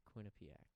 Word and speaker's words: Quinnipiac: say it though it's Quinnipiac Quinnipiac Quin Quin Quin the accent the uh emphasis is on the and Quin not you do quinc it's quinc